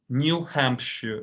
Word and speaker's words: New Hampshire: is um probably in in the us in the united states for example they're gonna say new hampshire but the crowded pronunciation at least for british speakers it it's new hampshire not ham shot yo